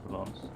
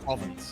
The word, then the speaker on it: Provence: There are 4 people currently registered for the Monte Carlo Tour in Provence as racers. Also, I was today years old that I learned how the system name is pronounced. Provence? Yeah. Province is what you really went with.